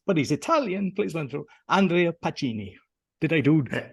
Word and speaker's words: Andrea Pacini: he's not always but he's Italian please don't Andrea Pacini did I do it's Justice you did Roy thank you very much you pronounced it perfectly I'm looking forward to this